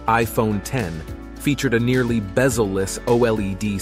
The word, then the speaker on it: iPhone X: The iPhone X, pronounced iPhone 10, featured a nearly bezel-less OLED screen, Face ID facial recognition technology replacing Touch ID, and a unique notch design.